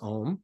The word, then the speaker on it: OM: see the teata OM the OM has three syllables a and we think of